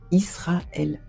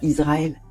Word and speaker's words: Israël: On dit Israël. On dit pas Israël. Pourquoi ? Parce que en français, entre une consonne et une voyelle, on prononce ce on dit pas on danse, on dit on danse. On dit pas on pense, on dit on pense. Donc Israël comme en hébreu qui est une